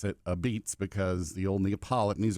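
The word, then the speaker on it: apizza: pizz is pizzer uh or as they're called a beats they're called a beats a p i z Za a but they pronounce it a beats because the old Neapolitan these are Neapolitan pizzas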